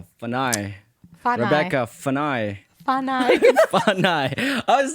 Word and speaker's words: Fanai: I was going to ask you, do I say it right? Fanai. Is it Fanai? Fanai. Fanai. See, I knew I would get it wrong. So Fanai is like American version, though, too.